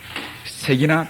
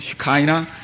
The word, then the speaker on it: 쉐키나: 쉐키나 또는 슈카이나, 그저 그 발음 나오는 대로 쉐키나 표상입니다.